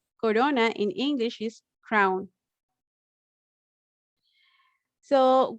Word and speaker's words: corona: if you notice that soft r is in the middle of the words they are not at the beginning and they are not at the end and the pronunciation is corona corona in english is crown